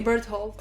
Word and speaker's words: Bertolt: Like, I mean, honestly, they say Berthold. Oh yes, that's how people say to pronounce his name, but the way everyone says it in the show is like Bertolt.